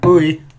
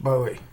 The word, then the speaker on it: Bowie: Now I pronounce that buoy because I know that's kind of what people, kind of the way people pronounce it, but when I was growing up, it was pronounced Bowie because I'm a hillbilly from Lookout Mountain in Alabama. And that's how we pronounced it.